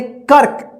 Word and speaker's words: कर्क: लेकिन रेफ की मात्रा जो कल हम क्लास कराए थे, जिस अक्षर में लगा रहता है उस अक्षर के साथ आधा र का उच्चारण नहीं होता है, उससे पहले वाला जो अक्षर यहाँ पे रहेगा, जैसे यहाँ पे क, तो इस आधा र का उच्चारण जो है ना क के बाद होगा, जैसे इसको पढ़ेंगे कर्क।